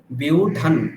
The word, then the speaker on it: व्यूढं: ওখানে বিউঢান নকার, বিউঢান দুর্যোধনস্তদা।